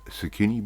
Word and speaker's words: Tsukune: We're going to now give a little bit of a brush with our sauce straight over the top of those Tsukune balls. Right? And zucchini is spelled T-S-U-K-U-N-E.